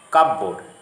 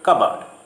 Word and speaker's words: cupboard: Again, sometimes P is silent in the middle of the word, as in the following words: receipt, coup, cupboard, raspberry.